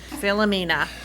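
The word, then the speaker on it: Philomena: the first name again it was just not pronounced correctly philonema and they're gonna give that to you philamina is her name i'm telling you these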